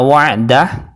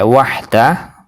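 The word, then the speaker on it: وحده: juga yang membaca itu yang pertama dibaca wa'dah dan yang kedua juga dibaca wa'dah jadi disamakan wa'dah yang pertama dan yang kedua juga dibaca wa'dah Ini juga bentuk kesalahan dan pengucapan yang benar adalah yang pertama pakai Wahdah pakai ha yang kedua adalah wa'dah pakai Ain lailahaillallahu Wahdah shqoh wa'dah kemudian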